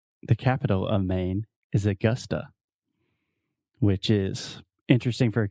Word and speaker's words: Augusta: the schwa sound so most Brazilians will see this word and they want to say Augusta it's Augusta so say Augusta one more time Augusta Augusta awesome I'm gonna visit Augusta this summer Augusta Augusta and it's not Augusta Augusta Augusta yeah so you have two schwa the uh uh Augusta